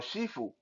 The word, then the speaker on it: 师傅: how to address them, you can just use 师傅 or Shifu if you want that more Cantonese pronunciation.